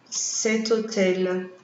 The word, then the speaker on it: cet hôtel: Por exemplo, cet hôtel. Para que nós possamos fazer aqui a liaison na hora da pronúncia. Veja, cet hôtel, cet hôtel, cet hôtel.